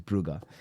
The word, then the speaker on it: Brugge: It's not Bruise, it's Buger. I get told off every time I say it wrong.